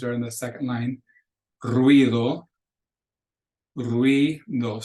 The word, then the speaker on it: ruido: So if you look at those 3 words that are in the second line, ruido, ruido. So it's 2 syllables. It's not ruido, it's ruido. Parientes, not parientes, it's parientes, ye.